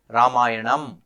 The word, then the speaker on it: Ramayana: the pronunciation exercise when someone said I shouldn't be saying ramayana rather should say ramayan well if I were speaking in Hindi I would say ramayan because the a Vel